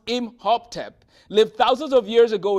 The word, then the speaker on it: Imhotep: The physician Imhotep, pronounced Imhotep, lived thousands of years ago in Egypt.